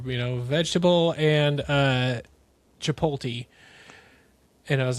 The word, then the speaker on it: Chipotle: to read words and Chap Chipotle was one of them. like chapat chapatle chapatle. It's like I remember